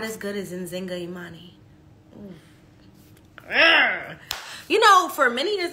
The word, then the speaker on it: Nzinga Imani: I pronounce it Nzinga Imani. Now, I will say this. Nzinga, I was named after an African queen, and it is a translation. So some people spell it much differently and therefore pronounce it much differently. Some people replace the Z with a J.